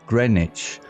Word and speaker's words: Greenwich: Indeed, Lady Hermayani, he replied, "There is a place called Greenwich, pronounced Greenwich, known for its unique time observatory."